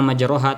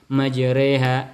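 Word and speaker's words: مجراها: Cara bacanya bukan majroha tapi majreha dalam qiraat hafz bin hafaz anasim.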